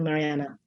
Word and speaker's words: Marianne: it's just that the norwegians pronounced that final e at the end but everyone who knows her everyone including leonard only called her mariana so as you got